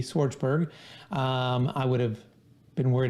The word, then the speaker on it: Schwartzberg: And for my phonetically challenged people out there like myself, Schwartzberg, Schwartzberg.